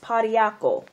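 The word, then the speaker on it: pau d'arco: it for you guys um this herb is pronounced potty apple PA u da RC o potty alkyl bark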